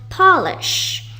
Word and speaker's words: polish: For the first one, you pronounce it as polish, as in he polished my shoes.